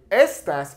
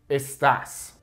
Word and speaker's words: estás: want you to understand the reason we put an accent mark over this a is because in Spanish, typically the natural emphasis on a word comes on the second to last vowel, which technically in this case would be e, okay? But if I say estas, it means these. It completely changes the meaning.